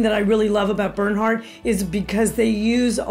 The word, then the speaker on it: Bernhardt: They were only a to the trade line, and it's called BERNHARDT, and it's spelled a little odd, but it has a T on the end.